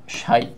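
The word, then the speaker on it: ψ: কত সেটাকে আমরা ধরতেছি সাই হিসেবে। এই যে সিম্বলটা, এই সিম্বলটা হচ্ছে সাই, পিএসআই। এর উচ্চারণ হচ্ছে অনেকটা এরকম, সাই।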